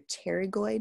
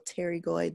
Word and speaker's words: pterygoid: the masseter called your pterygoid muscles a lateral and a medial pterygoid the p is silent so these are all